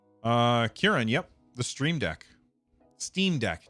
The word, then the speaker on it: Steam Deck: Steam Deck, not Stream Deck. Keep saying it wrong.